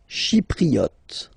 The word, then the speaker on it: Chypriote: Chypriote. Chi, remember this Y is pronounced like I, okay?